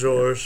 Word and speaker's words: Georges: You don't pronounce the S Georges? at the end in You French. don't say Georges? It's just Georges.